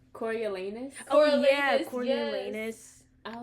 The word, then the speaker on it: Coriolanus: But Cornelius? but Oh, Cornelius. Yes. Yes. Bro, like actually, how do you say his name? Coriolanus.